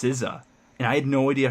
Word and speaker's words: SZA: But it's is it SZA? Or I don't. She's featured in a lot of like pop and kind of hip hop-ish songs. Yeah, it's like SZ, but her name is pronounced SZA, and I had no